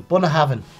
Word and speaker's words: Bunnahabhain: Bun of Heaven. Yeah, he's nailed it. Bun of Heaven, easy.